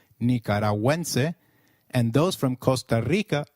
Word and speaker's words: nicaragüense: Gu, when followed by another vowel like in gue, is pronounced like gue in Gwen. So, let's try saying Nicaragüense again. It is Nicaragüense.